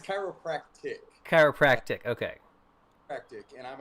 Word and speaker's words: chiropractic: this what is the word for it it's chiropractic chiropractic okay hectic and i'm a chiropractor okay